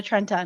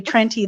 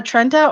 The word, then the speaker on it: Trenta: Kira, you can't get a macchiato and a Trenta. No. Mm-mm. Oh, okay. It's not Trenti. It's Trenta. Just to let you know. So if you go there Oh. and if you say Trenty, they'll probably be like, no, you can't order now.